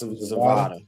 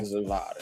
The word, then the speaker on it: Zavada: It's Zavada. Yeah. Zavada. Yeah. Like Nevada Zavada.